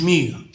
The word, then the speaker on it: mu: That would be a statistic, lowercase, which would mean this is X bar and this is mu. Mu is pronounced M-E-U.